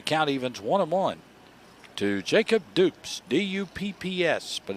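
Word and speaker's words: Dupps: evens one-on-one to jacob dupes d-u-p-p-s but it's pronounced dupes like oops except it's got a d in front of it and dupes gets a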